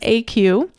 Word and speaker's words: ACUE: It's ACUE, which is pronounced AQ.